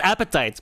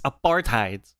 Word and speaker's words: apartheid: It's not appetite, motherfucker. It's apartheid, all right? It has nothing to do with food.